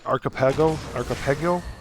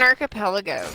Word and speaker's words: archipelago: Archipelago? How do you say that? It's an archipelago, Growl. Archipelago, yeah. It's so much easier to say than it is to read.